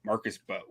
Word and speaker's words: Embo: Marcus Embo, we both love this kid out of Purdue. Marcus, I think it's actually just pronounced Bo. Marcus Bo. Bo.